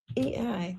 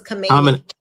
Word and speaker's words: Khamenei: KHAMENEI.